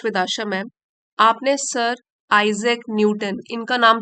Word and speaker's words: Isaac: में तो आइए शुरू करते हैं तो कैसे प्रोनाउंस करेंगे आइजक आइजक Newton sir आइजक Newton आइजक Newton वास